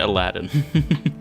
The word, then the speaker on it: Aladine: You pronounce it Aladdin. I don't know why it's spelled like that, but it's fine.